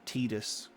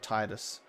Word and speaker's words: Tidus: the tightest laugh sorry i should say his correct pronunciation tidus and i grew up saying titus the tidus laugh type